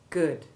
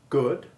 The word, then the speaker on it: good: on the bbc of saying good as though it had the short o2 iv sound listen carefully as i perpetrate this horror and note the lazy mouth shape good this is horribly horribly horribly wrong because ivy remember can never be stressed watch and listen again